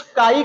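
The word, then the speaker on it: chi: तो कैसे कुछ चाई कहते हैं, कुछ काई कहते हैं, कारण क्या है कहने का, समझते हैं। जो CH को च लेकर पढ़ते हैं तो उसको एक चाई कह देते हैं, और जो यच को साइलेंट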